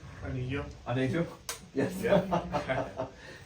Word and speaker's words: Anejo: Anejo. Anejo? Yes. Yeah. It means Joe, it's not yo.